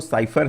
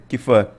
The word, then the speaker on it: cipher: ठीक है, बेसिकली इसका जो प्रोनाउंसिएशन है वो साइफर है। ठीक है, CIPHER, लेकिन कहीं कहीं पर मैंने देखा कीफर भी लिखा हुआ है। ठीक है, मतलब ऐसे कीफर प्रोनाउंशिएट करते हैं, लेकिन एक्चुअल में जो गूगल ट्रांसलेट पे मैंने देखा इसका प्रोनाउंसिएशन जो है वो है साइफर।